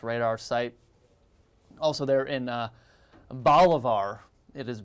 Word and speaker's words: Bolivar: Also there in Bolivar. It is Bolivar, not Bolivar.